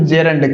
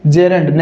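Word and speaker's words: gerund: इसका correct pronunciation क्या होता है, तो इसे बोलते हैं साथियों जेरंड। क्या बोलते हैं, जेरंड, न कि जिरंड। जिरंड नहीं, इसका करेक्ट प्रोनाउंसिएशन क्या है साथियों, आप बोलोगे जी इसका करेक्ट प्रोनाउंसिएशन है जेरंड। क्या है, जेरंड।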